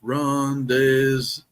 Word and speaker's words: rendezvous: It's rendezvous needs to be pronounced rendezvous.